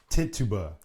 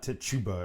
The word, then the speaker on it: Tituba: Oh, were Sarah Good, Sarah Osborne, and Tituba. Tituba. It's not Tituba, it's Tituba. That's how it's pronounced. There's no ch in there.